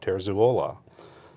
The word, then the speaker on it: Terzuola: and he says that his name is Bob terzuola right four syllables so that's that's what